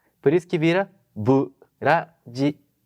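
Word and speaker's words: ブラジル: Burajiru.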